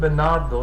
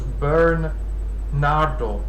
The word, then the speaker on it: Bernardo: Catherine it's burn Nardo so instead of Bernardo it's burn Nardo it's not quite an